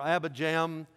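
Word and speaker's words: Abijam: and then his son ABBA jaw or Abba Jam two different pronunciations he reigned only three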